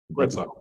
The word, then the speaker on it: Greta: Excuse my pronunciation, is it Greta or Greta? Greta. Greta it's was Margareta, so it's Greta, yeah.